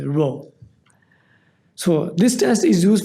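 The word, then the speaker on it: rho: or the Greek letter row this is actually pronounced as row so this test is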